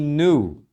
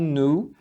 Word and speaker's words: new: New e new Então as duas palavras podem ser pronunciadas New ou podem ser pronunciadas new também então tem as duas pronúncias no inglês americano é bem comum eles falarem nu como se fosse um nu nu você também pode falar New então As duas pronúncias são corretas para as duas palavras o primeiro New